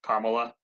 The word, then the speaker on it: Kamala: He followed Harris, Kamala. That's how you say her name, right? Kamala.